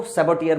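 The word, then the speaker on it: saboteur: हैं एस ए बी ओ टी ए ji spelling है और जो बंदा नुकसान पहुंचाता है उसको सेबो टियर बोलते हैं एस ए बी ओ टी ई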